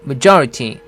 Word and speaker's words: majority: 발음은 조를 강하게 해서 majority 이렇게 하면 됩니다.